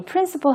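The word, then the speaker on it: principal: 원금을 principle이라고 부르게 됩니다 그런가 하면이 principle 하고 발음이 똑같은 다른 단어가 있습니다 바로 원칙이라는 의미의 단어죠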